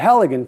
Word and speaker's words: Halligan: so this tool increased greatly in efficiency the halogen tool is pronounced just like that h-a-l-l-i-g-a-n it's often confused